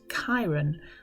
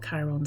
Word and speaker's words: Chiron: Chiron um which it turns out is actually pronounced Kiron not Kiron so for all this time I've been pronouncing